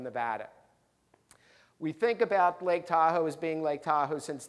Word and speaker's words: Tahoe: ultimately people start hearing this word Tahoe tahoe from the Washoe Indians it really was it's doll is da and then Oh W and that meant big water deep water but the thing is phonetically it sounded like Tahoe and that was the